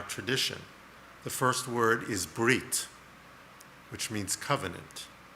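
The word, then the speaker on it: ברית: words in our tradition the first word is breit which means Covenant it's sometimes pronounced bris bris does not mean circumcision bit Mila Mila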